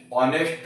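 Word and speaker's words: honest: क्योंकि मैंने अभी आपको बताया कि एच जो है वो साइलेंट हो जाएगा, ओके, और इसको ऑनेस्ट बोलेंगे, तो ये हिंदी का प्रोनाउंसिएशन होगा ऑनेस्ट, ओके, तो वो हिंदी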